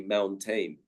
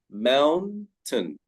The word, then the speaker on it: mountain: It is spelt with AI, but we do not say the A sound. We simply say mountain, mountain. In Bandung, I visit the mountain called Tangkuban Perahu.